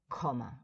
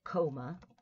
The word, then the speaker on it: comma: mm it is mm the pronunciation is comma right as opposed to a coma right which is when